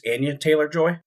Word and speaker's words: Anya Taylor-Joy: Uh, I I always mispronounce her name. I think it's Anya Taylor-Joy.